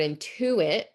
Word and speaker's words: intuit: So like in our word intuit, it's on the syllable in the middle, intuit, also intuitive.